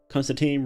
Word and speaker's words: Constantine: Constantine rhymes with wine.